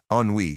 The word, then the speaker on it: Ennui: Finally, Ennui steps off the elevator. Ennui, pronounced ennui, is the embodiment of teenage boredom.